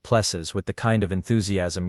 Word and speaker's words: PLSS: Your plss, the technician said, pronouncing it like pes with the kind of enthusiasm usually reserved for root canal procedures.